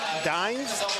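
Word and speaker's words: Dynes: I mean he utilized the pump fake to draw the foul from Dimes? How do you pronounce his name?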